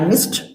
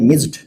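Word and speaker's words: missed: तो आप अगर बोलते हैं मिस्ड, गलत है, आपको बोलना पड़ेगा मिस्ड, मिस्ड।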